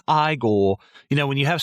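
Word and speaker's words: Igor: front and you know now it's pronounced I goal you know when you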